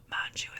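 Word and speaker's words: Mongeau: Anyway, Tana Mu is how you say her last name, this other influencer.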